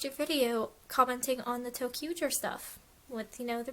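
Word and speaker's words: Toei: to pronounce it correctly it's not toyer it's toer complaining about girls being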